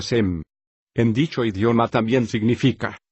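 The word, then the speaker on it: שם: la cultura me explico en hebreo nombre se pronuncia sem en dicho idioma también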